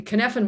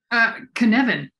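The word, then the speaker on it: Cynefin: I've heard it pronounced Kinefin. Sort of. It's Welsh. Jinx. For those who speak Welsh.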